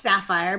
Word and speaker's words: Saphier: right that's right so my last name is pronounced sapphire but it's actually spelled s aph i er i mean you can